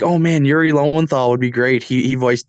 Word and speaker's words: Lowenthal: Lowenthal? Yuri Lowenthal. He's like one of the biggest now. Like in hindsight, I was kind of short thought of it because I was like, oh man, Yuri Lowenthal would be great.